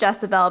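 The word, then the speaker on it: Dyesebel: called jezebel it's pronounced jezebel but apparently there are no j's in the filipino language so it's spelled d-y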